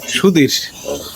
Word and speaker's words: সুধীর: সেবাহিত পন্ডিত প্রভুর শ্রী সুবীর গোস্বামী সুধীর আবার উচ্চারণটা ভুল হইছে বিরামপুর মোহনগঞ্জ এই যে